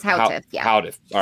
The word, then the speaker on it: Houteff: So back in 1929, a gentleman named Victor Houteff, I'm sure I'm pronouncing that wrong, Houteff, Houteff, a Bulgarian. It's Houteff, yeah.